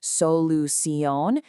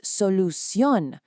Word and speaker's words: solución: So it's not solución, it's solución. All the energy is at the end.